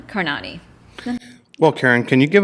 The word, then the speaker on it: Karnani: so now I I I use the pronunciation Kiran carani well Karan can you